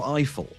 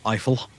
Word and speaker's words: Eiffel: I'm going to say it like trifle, Eiffel.